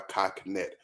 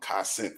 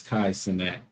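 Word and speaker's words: Kai Cenat: Y'all know him by Kai Connect. Or I think I'm pronouncing that brother name. I was calling him Kai Cent for many years until someone corrected me.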